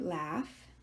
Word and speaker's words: laugh: laughing she is laughing this verb laugh is not an easy verb because the letters don't make sense this a-u-g-h is a digraph four letters are making one sound although in this case